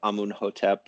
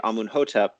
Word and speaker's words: Amenhotep: And then if we use later Coptic, which of course has written vowels, we can reconstruct things and pronounce them as though they were Coptic. So I could say Amunhotep, and that matches the Coptic vowels in those words, but it's anachronistic, and it could be anachronistic by more than 1,000 years, as it is in that case.